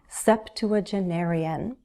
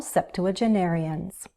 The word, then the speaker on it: septuagenarian: with this long word, septuagenarian. They're all septuagenarians. Septuagenarians. 7 syllables, I believe, and that's easy to remember because the prefix sept means 7.